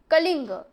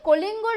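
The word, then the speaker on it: Kalinga: lead হ army against কলিঙ্গ একসময় সে কলিঙ্গর বিরুদ্ধে এটা ইংলিশে যখন উচ্চারণ করবে কালিঙ্গা কিন্তু যখন বাংলায় বলে তখন বলবে কলিঙ্গ তার বিরুদ্ধে একসময় একটা যুদ্ধে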